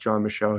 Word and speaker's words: John Michel: It's spelled like Mitchell, but without a T, and I believe it's pronounced John Michel.